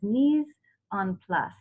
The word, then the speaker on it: mise en place: class, and I think the French pronunciation is mise en place, and it's everything in place.